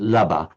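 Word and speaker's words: leaba: How do you spell the Irish word for laba bed? Leabha. Leabha. Okay, right. And pronounced laba.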